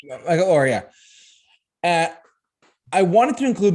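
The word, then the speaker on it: Michael Oher: I think it's how you say his name. Michael Orr. You're right. Michael Orr.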